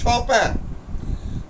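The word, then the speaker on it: Chopin: তোমাদের ওদিক থেকে আওয়াজ এলো, এলো, শুভ্রর কণ্ঠস্বর এলো, হ্যাঁ পাওয়ার কথাও নয়, ওটার উচ্চারণ হচ্ছে শপ্যাঁ।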